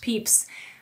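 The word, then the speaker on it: Pepys: member of parliament samuel peeps yes it's weirdly pronounced peeps described it as the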